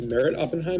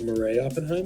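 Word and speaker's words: Meret Oppenheim: oh yeah okay um that merit oftentimes merit oppenheim and not like marie oppenheim yeah but that's the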